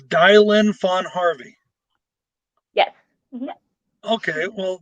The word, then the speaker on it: Dilynn: camera oh hey the way you pronounce my name it's dylan really wow see i'm learning something new already so it's dialynn fun harvey yes okay